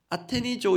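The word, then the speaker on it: ἀτενίζω: 이 헬라어 원어의 발음이 아테니조 이렇게 되는데요.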